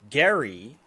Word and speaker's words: Gerry: You're missing the real gerrymandering scandal hiding in plain sight, which is that Elbridge Gerry pronounce his name with a Gary. hard G.